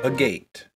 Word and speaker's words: agate: how do you pronounce a gate where's this gonna so agate is the preferred pronunciation but there is an argument to be made for a gate who knew now we